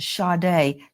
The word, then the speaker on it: Sade: It's pronounced shade.